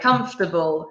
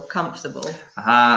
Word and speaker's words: comfortable: say like that right we don't pronounce the second syllable it's not comfortable comfortable so you try to eliminate the midweek Oh in the middle comfortable so let's thinking of